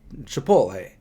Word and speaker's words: Chipotle: thing a while back I was saying Chipotle wrong and everybody was like you're saying wrong you're saying it wrong so I obviously I looked it up and I'm saying it right Chipotle but a lot of